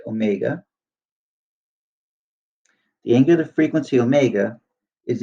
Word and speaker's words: omega: the angular frequency by the way this is pronounced Omega the angular frequency Omega is equal to 2pi